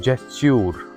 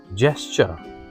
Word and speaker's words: gesture: It is not gesture. This is gesture.